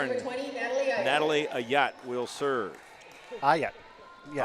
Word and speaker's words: Aucutt: Aucutt. Yeah. Aucutt.